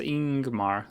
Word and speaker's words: Ingmar: It's pronounced Ingmar, leading with a vowel sound.